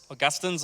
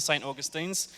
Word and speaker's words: St Augustine's: a inside joke about how we pronounce the name of our church whether it's in August augustins or St Augustines really it's a discussion about how English we actually are so you decide how